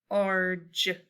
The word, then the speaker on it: large: And on this word, we have a combination AR, so we code it with an arc, and this says R. My G sounds like a J, and once again, this E is silent. Large, large.